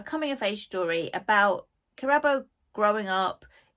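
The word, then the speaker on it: Kirabo: So we follow Chirabo, although I think it's pronounced Chirabo because I've watched a couple of videos of the author talking about it and she pronounces it Chirabo, but it's written with a K, so I read it as Chirabo.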